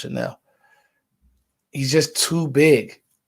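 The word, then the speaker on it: Chenal: chanel channel it is you want to say chanal but it's pronounced chanel he's just too big like and he has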